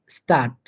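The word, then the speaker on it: Stadt: যেমন স্টার্ট, দেখেন এই স্টার্টের লাস্টে আমাদের ডিটি রয়েছে, তাহলে এই ডিটিটা আমাদের একটা যুক্ত বর্ণ, সেটার উচ্চারণ হবে ট এর মতো করে, তাই এটার উচ্চারণ হয়েছে স্টার্ট।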